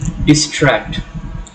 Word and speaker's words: distract: For example, distract. Distract. Tract is a root, so it gets us stress.